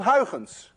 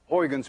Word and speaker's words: Huygens: You see, this sound, UY, is pronounced in Dutch as ui. None of you can say ui unless you're Dutch.